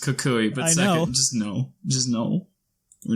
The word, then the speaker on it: Kukui: First, it's pronounced Kukui, but second, just no.